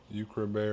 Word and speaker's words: Ukra: Ukra like Ukraine. Yeah. It sounds like Ukraine.